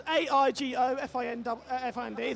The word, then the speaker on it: IGO Find: It's IGO Find. That's AIGO-FIND.